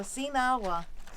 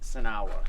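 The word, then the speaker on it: Sinagua: So Sinawa. That's how you say it. That's Well, actually, it comes Without out more like water. Sanawa.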